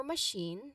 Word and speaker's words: machine: So ticket ticket machine for machine the stress is on the second syllable shin okay which um you know which has a clear long e sound shin.